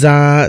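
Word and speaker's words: ز: জাল জাল র যা এটা হচ্ছে যা দুই দাঁতের উপরে দাঁত রাখাইতে হবে এবং বের করতে হবে যা যা সিন সিন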